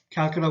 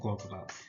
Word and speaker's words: Kolkata: Now, Kolkata was earlier called Calcutta, but Calcutta was actually a mispronunciation of Kolkata, which is why they went ahead and changed the spelling so it can actually be pronounced properly.